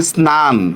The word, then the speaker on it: স্নান: যেমন দেখেন ন ফলার উচ্চারণও হয়। আমি যদি বলি স্নান, দেখেন তো ন ফলার উচ্চারণ হইতেছে কিনা? স্নান। তারপর লিখলাম স্নাতক, ন ফলার উচ্চারণ হইতেছে কিনা? হয়েছে? হয়েছে? ন ফলার উচ্চারণ স্নান, স্নাতক।